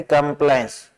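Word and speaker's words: compliance: ध्यान दें ये स्ट्रेस्ड नहीं है, अनस्ट्रेस्ड है। जब ओ की ध्वनि है जो अनस्ट्रेस्ड हो, जिसपे जोर नहीं दिया जाए, तो ये सिंबल प्रयोग में लेते हैं, ये इस ए के संदर्भ में आता है, यानी कंप्लायंस। इसे को न पढ़े, वो दिखते मुंह न फुलाए।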